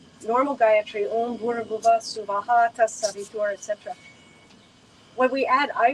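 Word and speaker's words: स्वः: But normally they're pronouncing it Om Bhur Bhuva Swaha. No, please no. Om Bhur Bhuva Suvaha. 3 separate equal syllables.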